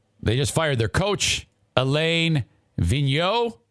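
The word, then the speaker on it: Alain Vigneault: just fired their coach elaine vigno i believe is how you say it after losing their ninth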